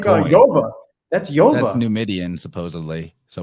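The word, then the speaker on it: Iyov: Stop saying book of Job. It's book of Yov.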